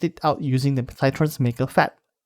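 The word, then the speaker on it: Maker pHAT: I mainly tested it out using the Cytron's Maker FAT. And yes, that is actually how you pronounce that thing.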